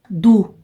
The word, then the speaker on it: do: Mas tem a palavra du, que se escreve com O, mas se fala U, du.